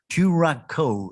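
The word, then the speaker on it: Koraco: fifty square kilometers giving coraco the largest exploration position in cote d'ivoire chu racco is how you pronounce it it's a local bird of cote d'ivoire meanwhile we mate we welcome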